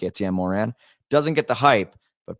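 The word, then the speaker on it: Étienne Morin: Etienne Morin.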